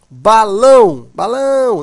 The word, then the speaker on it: balão: Balão, né? Observa, a sílaba tônica é a última, portanto, oxítona.